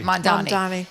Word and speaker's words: Mamdani: Mamdani.